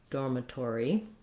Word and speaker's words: dormitory: So we have two ors in dormitory, a little secondary stress on that tor. Again, might be difficult to do both ors. If that's the case, just break it down one syllable at a time. Dormitory, and work from your R's. And then lastly, we have the letter Y saying the E sound again, dormitory.